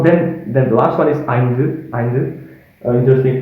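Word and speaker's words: ஐந்து: So then the last one is eindu, eindu. Interesting pronunciation compared to the previous ones, and also interesting letter right here.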